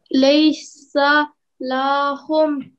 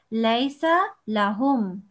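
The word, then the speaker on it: ليس لهم: But like I said before, with the alif, there's only a fatha, and that means you only prolong it for 1 second. So how do you pronounce it up to here? Laysa lahum. Yeah, but 1 second, remember.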